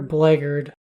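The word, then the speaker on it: blackguard: Bard Champion warlord and black art or blaggard I think both are accepted pronunciations all those creatures I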